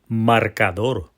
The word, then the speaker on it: marcador: This word has 3 bouncing syllables, marcador, like bouncing a basketball 3 times. And that last syllable, dor, that gets the pow. That's the strongest beat. That's our tonic syllable.